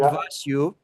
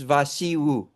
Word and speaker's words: Vasiu: U it's is not Vasu, it's Vasiu. You have to put the accent correctly.